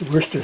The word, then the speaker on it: Worcestershire: Now I know the Brits pronounce this Worcester sauce, but I refuse to say that because that's not the way it's spelled.